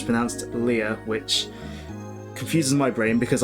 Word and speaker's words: Lea: I read it as Lee but I think consensus is that the closest to official is Leah so I'm going to